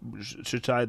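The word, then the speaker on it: Mohammad Shtayyeh: statements of, Mohammed Shataya, I think that was Shataya, that'd be how you say his name.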